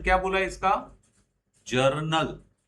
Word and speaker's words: journal: जर्नल, not general, जर्नल, जर्नल, जर्नल। हाँ, गलत pronunciation ना करना।